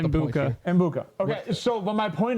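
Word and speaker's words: Egbuka: And Mbwike might be a top. I thought it was up there. I get it. I don't. You pronounce it how you want. I haven't really looked at it. It's Mbuka.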